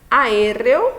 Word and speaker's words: aéreo: Por exemplo, aí nós temos aéreo, né, ó, aéreo. Então, aéreo, ela é uma palavra o quê? Esdrúxula, né? Está recaindo a sílaba tônica na terceira, na antepenúltima sílaba, e elas sempre serão acentuadas.